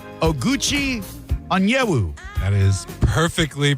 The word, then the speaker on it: Oguchi Onyewu: I could call him Gooch, but I'm going to go for his given name, and I'm going to say Oguchi Onyewu. That is perfectly pronounced.